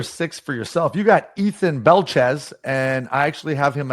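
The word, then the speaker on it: Ethan Belchetz: Ethan Belchez, that's how you pronounce it.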